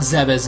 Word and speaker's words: Zebes: inhabited planet zez yes I'll call it zez now since that's the or original or official pronunciation whatever but it leads us